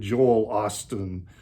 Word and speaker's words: Joel Osteen: I just kind of wish that, Frank was still around, because I'm sure he would just love to be skewering Joel Osteen, I think is how you say his name.